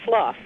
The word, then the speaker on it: slough: what we're talking about because if it's shedding skin you say slough even though it's spelled the same way so I felt the